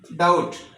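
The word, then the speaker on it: doubt: डाउट टी से पहले आ गया है। तो ये हमारे पास जो है बी साइलेंट हो गया।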